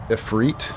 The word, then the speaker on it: Ifrit: So, I always call this guy Ifrit, but I learned later on that too late now. Ephre pronounced a little bit differently with a little bit of a accent on the last I but I always called